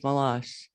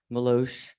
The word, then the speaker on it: Malash: Malash, let alone deal with the constant mispronunciation of your name, Malosh, Malachi, maybe Lucky, but thank goodness it wasn't pronounced as Malarkey.